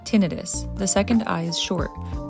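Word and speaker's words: tinnitus: Pro tip, it helps to really focus on that accented second syllable. Most medical professionals say tinidis. The second eye is short. But the way lots of civilians say tenitis with the long eye, may actually be correct based on the original Latin.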